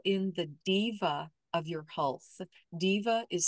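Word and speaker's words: Deva: You are welcome to call in the diva of your health. Diva is spelled D-E-V-A.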